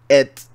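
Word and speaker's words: את: Aleph and Tav, when we make it a word, is pronounced et.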